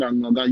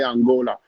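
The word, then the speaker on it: Anloga: When you see it and you don't pronounce it Anglogan, you might say Angola.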